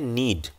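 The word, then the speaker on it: knead: डी दो जी हान गूंदने को अंग्रेजी में कहते हैं नीड इसकी शुरुआत तो कैसे होती है लेकिन इसमें के साइलेंट होता है नीत का अर्थ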